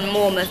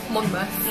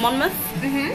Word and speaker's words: Monmouth: am Simon fresh now on mornith streets are you pronounce it monmouth monmouth on monmouth street in